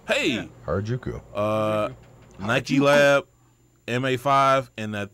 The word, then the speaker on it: Harajuku: I'm going to let you pronounce these because I'm Harajuku? Correct. Hey. Yeah. Harajuku.